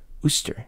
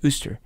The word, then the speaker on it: Worcester: me i wonder if you mean wooster and i'm like well yeah ooster no no it's ooster i'm like oh well yeah but i can't find it on the map oh yeah it's like spelled like we're sister i'm like what who why how do you want to hear a grapes of wrath gripes of wrath is freaking why would you call something ooster when it's spelled worcester sauce like that makes no